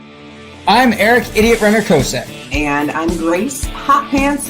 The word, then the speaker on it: Kosek: Yeah, Kosek. Well, that's the way it's supposed to be pronounced.